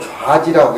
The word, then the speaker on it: 좌지: 그 우리는 좌지라고 그렇게 얘기하는데 발음을 좌지라고 해야 돼.